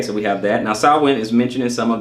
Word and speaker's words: Samhain: Samhain, as I said before, okay, pronounced Samhain, is a Gaelic festival marking the end of